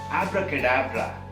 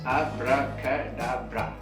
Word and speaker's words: abracadabra: Yes, and let's begin with the pronunciation of that word, abracadabra. It has got 5 parts, abracadabra.